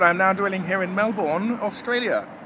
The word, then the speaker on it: Melbourne: now dwelling here in Melbourne Australia that is how you pronounce it Melbourne I know cuz I'm English and this is the Queen's language thank you very much